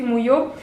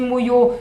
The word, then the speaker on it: Mouillot: Alors, l'illustratrice, l'auteure illustratrice, vous pouvez la contacter, Sophie Mouillot, sur son Facebook, parce qu'elle a un Facebook. Alors, son Facebook, c'est Sophie Mouillot, donc MOUI2LOT, facile, hein, comme ça se prononce, Sophie Mouillot, voilà.